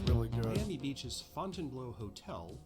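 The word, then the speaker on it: Fontainebleau: really good Miami Beach's Fontan blow Hotel pronounced by the locals as Fountain Blue is a famous local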